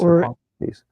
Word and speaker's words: Hippocrates: You could put those two side by side, and Are you pronouncing Hippocrates right? Is it Hippocrates? It's Hippocrates.